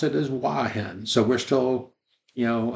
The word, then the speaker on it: Hua Hin: a special note inside our video we will mispronounce uh the name of the hotel to hoen uh we Ang uh anglicized it a little